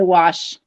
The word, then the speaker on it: wash: a wash rag and they do put the r in there I say what no I say wash what about Mel did